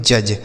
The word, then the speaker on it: judge: आगे लिखा है JUDGE, इसे पढ़ते हैं जज। JUDGE जज पढ़ा जाता है। यहाँ पे बच्चों जो डी लिखा है ना, यह साइलेंट होता है, इसको हम नहीं पढ़ते हैं।